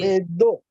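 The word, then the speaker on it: ベッド: Okay. Bedo. Will become do.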